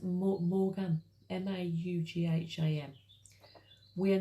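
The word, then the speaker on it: Maugham: by w somerset um i think it's pronounced morgan m-a-u-g-h-a-m we are not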